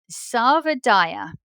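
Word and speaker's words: Sarvodaya: is um I have to make sure I pronounce it correctly uh Sava Dyer is the word that Gandhi coined Sava is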